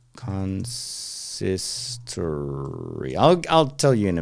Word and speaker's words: consistory: How do I pronounce this? Consistory. There you go. I said it right. I knew it. Consistory.